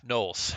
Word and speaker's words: Gnolls: There's no, okay, yeah, Knolls. Okay, they're not Gnolls anymore. It's the Null. The G is silent.